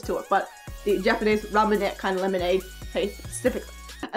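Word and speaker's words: ラムネ: There's no way to make it pronounced Ramune the way it's spelt in Japanese. It is spelt with a ra, a mu, and a ne.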